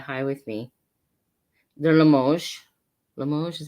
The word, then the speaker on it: Limoges: Limoges is how you say it? Limoges.